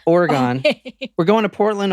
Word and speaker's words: Oregon: I said it how it's pronounced. Oregon.